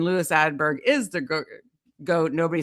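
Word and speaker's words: Åberg: Is it Aberg or Aberg? Aberg. Aberg. I'm not I wasn't even right.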